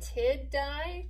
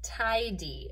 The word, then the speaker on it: tidy: be a two-syllable word would it be tid di tindy or tie d hmm let's cut it in front of that d between the i and the d and i would have the open syllable tie and then the open syllable d tie d and here again that y is making the e sound so like i told